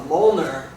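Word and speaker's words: Mjollnir: Okay, so the next thing that we're going to do is uh called a moler. And uh it's spelled very weird. It doesn't uh it's not phonetic.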